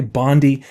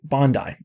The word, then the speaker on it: Bondi: You might hear people say Bondi, but it's actually Bondi. The moment you pronounce it right, you're already closer to the understanding of the shoe.